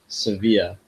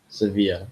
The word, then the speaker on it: Sevilla: Second place, Sevilla. Sevilla, which is which Americans pronounce as Seville cuz it's V I L S E V I L L E. Yeah. Sevilla.